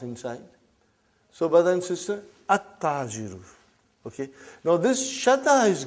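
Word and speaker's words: التَّاجِرُ: How will you pronounce this now? At-tajiru. You did not pronounce al. You did not pronounce lam.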